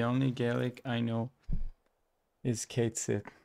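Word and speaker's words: cait sìth: Caitsith. Pronounced catchy.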